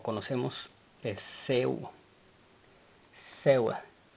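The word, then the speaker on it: ሰው: Ahora, la siguiente palabra que presentamos y la cual aprendemos o conocemos es Seu. Seu. La W no lleva pronunciación en el vocal, así es de que es S-E-W. Seu.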